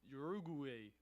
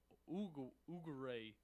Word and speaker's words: Uruguay: knew this country you know I'm bad at pronunciations you are u-g-u-a-y what is that one let me huh Uruguay ugaree I don't know why I'm having Uruguay yeah